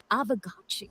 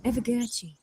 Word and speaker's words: Aavegotchi: Wait, how do you pronounce it? Aavegotchi. Aavegotchi.